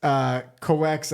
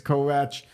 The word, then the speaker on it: Kovács: Now that's pronounced Kovács, I guess in American, and Hungarian it's Kovács.